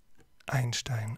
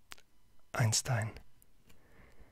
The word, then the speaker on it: Einstein: So it spells Einstein or Einstein, if you want to pronounce it in English.